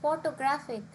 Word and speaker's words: photographic: stress on the second whereas photographic has press on the second last syllable so this can be